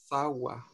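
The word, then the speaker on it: tzawa: Sawa. Sawa. No, sawa. ¿A qué le suena sawa, Nancy? Sawa o sacua, quizás, porque la KW me la está leyendo. Se escribe T-Z-A-W-A.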